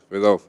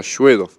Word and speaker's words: Sedov: ver es solo con es vedovo sedov eso es la pronunciación en español Porque después en ruso se pronuncia shedo shedo tú tienes o